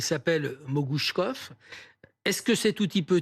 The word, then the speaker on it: Mogouchkov: Et quand il est là, c'est pour dire à sa professeure: mon nom se prononce comme Kalachnikov, il s'appelle Mogouchkov.